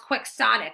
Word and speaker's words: quixotic: based on Don Quixote yes I know it's pronounced quixotic but that makes no sense if it's based